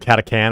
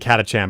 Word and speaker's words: Catachan: Yeah, is it Catacan or Catachan? I always pronounce it Catachan, but like it's Catacan. I'm like, that's dumb.